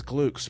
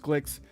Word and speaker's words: Glicks: glicks and it was i thought it was gluks but apparently it's pronounced clicks and had a lot